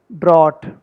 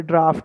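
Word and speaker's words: draught: ड्राफ्ट, travelers from outside the United States or the UK might say drought, but the correct pronunciation of the British word is draft.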